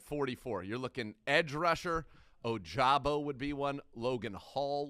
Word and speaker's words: Ojabo: If you see Ojabo, that's the one we want to be able to get that pronunciation right.